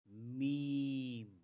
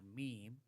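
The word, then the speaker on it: ميم: The next letter is Meem, Meem is a normal, easy, and very simple letter, just like the letter M. In M for mother or M for Muhammad, when pronouncing the letter Meem, both lips come together and touch each other.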